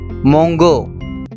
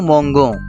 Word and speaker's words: mangeons: Let's say if we don't put extra E, which is in the blue color, so what would be the sound? What would be the pronunciation? So now you can see here, nous mangeons. So guys, if we don't have this extra E, the pronunciation would be nous mangeons. Nous mangeons, because GO will give the sound of go.